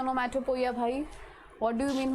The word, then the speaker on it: onomatopoeia: The type is, see, many of you pronounce it as wrong. Onomatopoeia. What is the pronunciation? Onomatopoeia. What is the pronunciation? Onomatopoeia. Pronunciation is onomatopoeia.